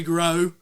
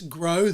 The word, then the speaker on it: Gros: It come down to that and Eric is pregnant, but I'm sure Kerry Gros, that's Gros, the S is silent.